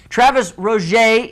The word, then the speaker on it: Travis Roger: Travis Roger is here.